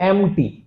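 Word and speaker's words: empty: There were to एम्प्टी। एम्प्टी मतलब खाली। एम टी P silent है।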